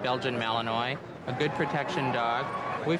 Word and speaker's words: Belgian Malinois: It's one of the three Belgian breeds, and it's pronounced Belgian Malinois.